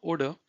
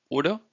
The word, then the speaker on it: oder: So wir können ins Fitnessstudio gehen oder wir gehen ins Schwimmbad. Please see how I'm pronouncing it. I'm not saying oder, okay? You don't have to pronounce this R at the end.